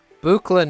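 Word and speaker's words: Buchla: in person um bukla no um i have some booklet modules here um notice how i i correctly pronounced the name now um i do have some bukla modules though um to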